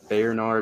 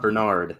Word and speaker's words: Bernard: do you say that it's like Bayern art or something it's not Bernard like the dog it's that's not the